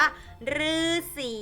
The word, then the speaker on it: ฤาษี: ว่า ถูก ต้อง ขาด คำ ว่า ฤาษี ออก เป็น เสียง รือ นะ คะ ตัว หรือ